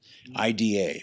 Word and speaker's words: Ida: Polish film called EDA I da we the u.s. we'd call that Ida but they pronounce it EDA god that's such a